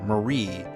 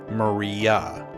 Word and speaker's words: Maria: in the first video I accidentally named this character Marie when in fact her name is actually Maria I was kind of